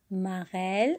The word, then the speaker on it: marelle: Marelle. Alors, regardez marelle. Le mot marelle contient le son L. Vous voyez? Alors, on a dit que E entre deux consonnes va se prononcer quoi? Et.